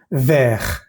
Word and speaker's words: ver: Hay que pronunciar bien la E y la R. Por ejemplo, la palabra hierro, fer. La palabra mar, mer. La palabra gusano, vamos a decir ver.